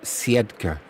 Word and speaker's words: Siedlce: I think it's Is it pronounced Sedka? I'm sure it's Seda something like that. It's a silent L, but we'll go with Pogar anyway for this game.